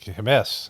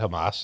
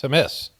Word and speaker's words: Hamas: Like, Hamas, not Hamas, it's Hamas.